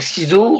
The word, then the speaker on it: SkiiZo: Alors on peut me suivre sur ma page Facebook Schizo officiel. Voilà. On peut me suivre sur Instagram Schizo aussi, Twitter pareil Schizo, et on peut me suivre aussi sur YouTube Schizo officiel. Voilà, donc Schizo, pour ceux qui ne voient pas, ça s'écrit